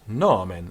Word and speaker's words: nomen: And this nomen is a long O, and it's got the circumflex, so it's nomen, a bit like amare in Italian.